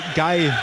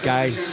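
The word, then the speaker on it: Gueye: H don't know M guy it's guy isn't it yeah g gay I think he's known as gay actually and but unfortunately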